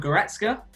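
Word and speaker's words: Goretzka: one was um leon i'm gonna say his name wrong as again leon goretska is that right or wrong correct yes look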